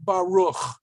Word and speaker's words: Baruch: Since it's at the end of the word, and they don't want you to think there's another vowel missing, we have that shva there, which I told you before you weren't going to have, usually at the end of a word, but I lied. All right. But in any case, it's not pronounced.